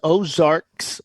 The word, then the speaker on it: Ozarks: Is it the Ozarks, Bill? Am I saying it right? It was Ozarks, plural, Mm-hmm.